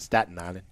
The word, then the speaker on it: Staten Island: I was born in Staten Island, New York, and actually it's pronounced Staten Island.